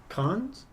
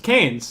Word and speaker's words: Cannes: Update from Cons? Cons. Canes. Canes. Canes. Racing Canes. Oh, Isn't it okay. different? Don't you pronounce it It's different Cons.